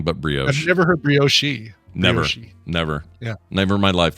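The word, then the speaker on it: brioche: And bioshi. Yeah, that one blows my mind. I have always heard it's bio. I've never heard anything but bio. I've never heard bioshi.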